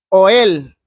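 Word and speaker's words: ohel: es ogel o u oel yo lo voy a pronunciar oel es o h e l que significa tienda oel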